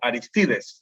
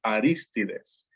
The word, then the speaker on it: Arístides: Normalmente conocemos a estas personas como Aristides en acá en Latinoamérica, ¿no? Pero en griego el nombre se pronuncia Arístides.